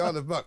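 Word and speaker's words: Isle of Muck: It is the aisle of muk.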